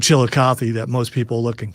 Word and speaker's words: Chillicothe: Does it start with the word chill? It does pretty much, yes.